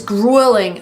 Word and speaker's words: grueling: Oh my god, it's grueling. Are you going to do that? We don't pronounce this word grueling. It's not grueling, it's grueling. Grueling. The first vowel is the long oo, like food and boot.